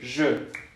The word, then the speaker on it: je: Es como la Y. Si tú la Y la pronuncias como Y, por ejemplo, yo me llamo Jordi o yo me llamo bla bla bla, sí es como tu Y. Pero, por ejemplo, en nuestro caso, en México, esta Y no existe. ¿Ok? Nosotros no tenemos esta pronunciación de Y, ¿no? Pero sí es esa Y de je.